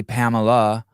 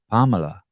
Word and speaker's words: Pamela: A lot of people say Pamela, but the true way would be to say it sort of like your Latin. You prefer the Latin pronunciation, which you don't get enough of.